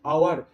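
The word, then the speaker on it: hour: এইচ এর pronunciation বা উচ্চারণ হচ্ছে না, সেই জন্য এইগুলোর আগে অ্যান বসাচ্ছি, কারণ এখানে এইচ যার বাংলা উচ্চারণ হয় হ, তাই তো, এইচ নামক কনসোনেন্টের বাংলা উচ্চারণ জেনারেলি হয় হ। এবার হ দিয়ে কিন্তু এই দুটো শব্দের উচ্চারণ শুরু হলো না, এই দুটো শব্দ কি দিয়ে শুরু হলো?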